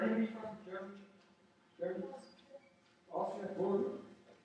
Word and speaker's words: Wörgl: Week 4, the Wörgl, experiment. Is there anybody from Germany? Germany? Austria? Wörgl?